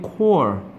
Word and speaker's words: Corps: Marine Corps. 이거 있으면 큰일 난다. 있으면은 시체란 뜻이 돼. 이거 없어야 P하고 S가 발음이 안 나거든.